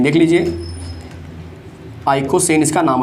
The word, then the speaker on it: icosane: 42, जिसका नाम होता है आइकोसेन। क्या नाम होता है? आइकोसेन। देख लीजिए, आइकोसेन इसका नाम हो जाएगा। क्लियर है?